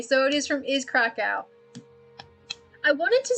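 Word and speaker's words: Kraków: to say anything about krakow which i'm not pronounced correctly either but that's how english people say it so that's how i'm going to say it oh god but i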